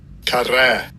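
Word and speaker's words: קרע: And I'll give you a pronunciation of the word. Strong's H7167. Karah.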